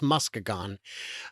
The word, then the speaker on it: Muskegon: It's spelled the same, but it is Muskegon.